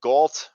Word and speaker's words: GALT: we got we got galt rhymes with salt ended up making a